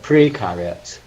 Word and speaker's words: precariat: How do you pronounce it? Precariat.